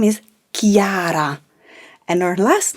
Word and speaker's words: Chiara: name chiara it's not chiara as you know there is an h in her name so c plus h plus i is ki so her first name is chiara and her last name